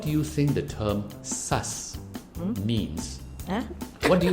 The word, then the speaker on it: sus: Not SARS as in the disease, but sus. S-U-S.